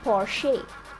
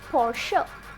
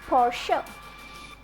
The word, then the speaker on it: Porsche: Many people mispronounce it as Porsche or Porsche, but the correct pronunciation is Porsche. Repeat after me, Porsche.